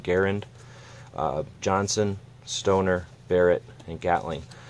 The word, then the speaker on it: Garand: dan Wesson Thompson rising garand and pronounced with air and so as I should be saying garand Johnson stoner Barrett and